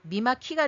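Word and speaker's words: 御間城: 그러면 일본 말로는 뭐라고 하냐? 요거를 미마라고 읽는다는 거예요. 미마. 그러니까 이름은 숭신의 이름은 미마인 거예요. 미마. 그리고 거 성이라는 거는 일본말로 키로 읽는데 요건 존칭어입니다. 그래서 합쳐서 미마키가 되는 거죠.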